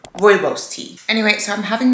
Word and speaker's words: rooibos: I can't remember how I was pronouncing it before, but it's called rooibos tea.